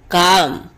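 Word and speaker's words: calm: कॉल कॉल अँड कॉल्ड काम शांत करना काम काम अँड काम्ड here L is silent कॅम्प शिविर लगाना कॅम्प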